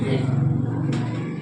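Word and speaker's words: read: जैसे पढ़ना हो गया आर इ ए डी री रीड मीन्स पढ़ना इसका क्या हो जाएगा आर ए डी रेड इसको रेड पढ़ेंगे लेकिन है ये है ना लेकिन पढ़ते हैं इसमें प्रोनाउंसिएशन इसका हो जाएगा रेड रीड रेड रेड और इसमें बताइए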